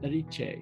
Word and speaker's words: Erice: And the name of that city was Erice, so it's spelt like Eric with an E on the end.